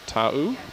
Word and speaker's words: Ta'u: Narelle, correct me if I'm wrong when I pronounce it, Ta'u?